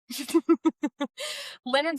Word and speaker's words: Lynyrd: Leonard Okay. Skinner. Yes. They spell it with 4 Y's.